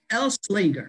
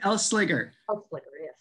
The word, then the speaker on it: Elsliger: go so shelly and it's elslinger right do i pronounce her flicker no n wait say that again l slicker are you sure it doesn't have an n i think it doesn't have an end i'm pretty sure no can't can't do that